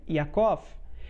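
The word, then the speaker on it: יעקב: nome vamos dar exemplos o nome Jacó é adaptação para o português do nome hebraico yakov sendo que em hebraico existe uma letra chamada a cujo som não existe na língua portuguesa também não existe em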